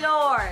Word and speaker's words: Dior: is expensive how do you say that Dior Dior this is the lip gloss that you can